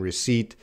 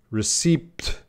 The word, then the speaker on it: receipt: talking about mortgage and receipt, and a lot of my students want to say receipt, receipt. They tried to use that P. No. Receipt, receipt, receipt.